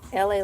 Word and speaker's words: LA: My name is LA, pronounced like LA like the city.